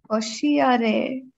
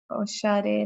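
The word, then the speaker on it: おしゃれ: Oshiare na no da. So this right here is a small. Yeah. So together, okay. This is pronounced as. Oshare na no da.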